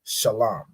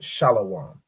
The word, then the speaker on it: Shalam: part of ancient Hebrew of course left with just shalam right it isn't shalawam right I'm going get